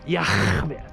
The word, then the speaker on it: Yah: His name is Yah. That's how you pronounce it.